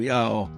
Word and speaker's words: Yaó: Yaó deve ser pronunciado Yaó, vagarosamente e com vigor.